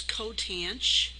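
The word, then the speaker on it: coth: The way we would pronounce this is sinh. This is cosh. This is tanch. This is cotanch.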